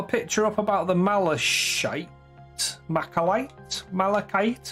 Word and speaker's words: malachite: Malachite? How do you pronounce it? Malachite? Malachite? Right. Carrying on. I think this marble goes quite bright. It's a hard K, malachite.